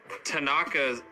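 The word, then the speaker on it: thanaka: You forgot to mention that Tanaka, am I pronouncing that right? Yeah, Tanaka.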